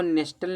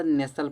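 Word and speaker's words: nestle: इसको नेस्टल नहीं पढ़ा जाता। नेसल पढ़ा जाता है।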